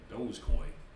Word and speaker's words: Dogecoin: I'm gonna say it right, Dogecoin.